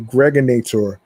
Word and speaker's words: Gregonator: I'm your man, aka the Gregonator. Rhymes with now or later, like the candy.